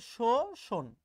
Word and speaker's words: শোষণ: আচ্ছা এখানে যে শব্দগুলো তোমরা দেখতে পাচ্ছ একটু দেখো তো ভাই, এই যে শোষণ শব্দটা আমরা লিখি ঠিক এরকম, কিন্তু বাস্তবে আমরা যখন উচ্চারণ করি আমরা এরকম উচ্চারণ করি, শোষণ, কোমল কোমল, দেখো আমরা যা উচ্চারণ করছি, কাগজ কাগজ।